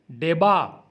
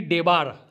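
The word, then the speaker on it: debar: डेबा, वंचित करना। वंचित करना का मतलब होता है डेबा, ना कि डेबार। हम पढ़ते हैं डेबा, आर साइलेंट है।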